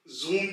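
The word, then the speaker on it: Sommer: स् type two है जहां पर एस की आवाज ज अंग्रेजी जुबान के जूम की तरह निकलेगी जैसे कि जर्मन में जोमा जोमा यानी कि समर गर्मी यहां पे आप देखें कि एस की आवाज जूम में ज की तरह निकली है जोम और आप आर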